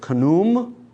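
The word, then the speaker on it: Khnum: of the egyptian gods the great god it's k-h-n-u-m in english letters i'm going to go with kunum he was the guardian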